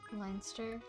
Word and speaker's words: Leinster: like much more german it's l-e-i-n it's like line sir leinster it's supposed to be